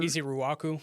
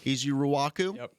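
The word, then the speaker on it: Ezeiruaku: easy I'll allow that does anybody have a pronouncer easy Raku easy Raku easy Raku College easy Raku super productive player Works he's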